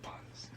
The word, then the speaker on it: butters: Just butters. You know, butters. Butters. You spell it Butters, but you say butters. No pronouncing the No T. T's, no T's. You just say butters.